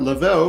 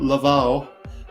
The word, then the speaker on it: Lavelle: Lavelle, I've got to remember to pronounce that Lavelle because he's from the UK and not Laval because he is not French, but Sean Lavelle.